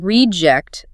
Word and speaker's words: reject: The noun reject is the person or the thing that's been discarded or thrown away. Stress on re the quality control team marked the faulty item as a reject.